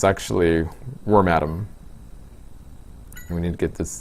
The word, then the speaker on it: Wormadam: I remember like in the watching the anime and being surprised as to how they pronounce the name. It's actually worm atom.